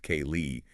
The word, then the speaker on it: ceilidh: We are talking about the massive trend of fiddling and celid dancing, which by the way for you listening is spelled C E I L I D H but it's pronounced K Lee.